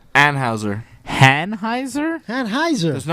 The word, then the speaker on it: Anheuser: It's Hanheiser. Anheuser. Hanheiser? Anheuser.